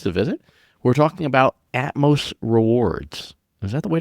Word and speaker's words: Atmos: We're talking about Atmos Rewards. Is that the way to pronounce it? It is Atmos, the beginning of Atmosphere according to the I little spoiler, ladies and gentlemen.